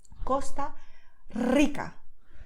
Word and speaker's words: Costa Rica: So just notice what I do when I say these example words. Costa Rica. You see, I exhale, so I need to let the air come out of my lungs, and when I do that, my tongue just goes with the flow, okay?